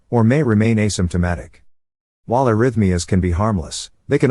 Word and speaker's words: arrhythmia: Arrhythmia, pronounced as arrhythmia, signifies an irregular heartbeat, indicating a departure from the usual heart rhythm.